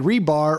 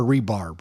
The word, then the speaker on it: rebar: and yeah y' did am I saying it right rebar or rebarb I think it's rebar rebar so you get